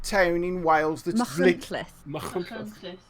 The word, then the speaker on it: Machynlleth: Machynlleth. Machynlleth. So the ch is like we say bach, and the ll is like at the back of your tongue.